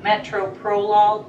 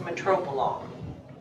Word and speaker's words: metoprolol: See, it's spelled metoprolol, but it's pronounced metoprolol, okay?